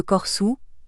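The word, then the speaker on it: Corsu: son aïal cossu et la prononciation galoura de corsou le r muet et les cossu SARD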